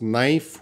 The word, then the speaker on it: knife: Why we have to pronounce knife without K?